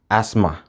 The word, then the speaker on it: asthma: Sai na ƙarshe aka ce th is silent in words like asthma and isthmus.